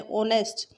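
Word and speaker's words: honest: ऑनेस्ट, H silent है।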